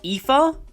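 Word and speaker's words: Aífe: valkyria chronicles any indication this name is pronounced ether anyway kahuluin distracted her defeated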